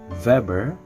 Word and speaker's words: Weber: government now uh max weber you pronounce it as max weber being a german well you can relate to it as the volkswagen wherein they pronounce the w such as weber max weber is a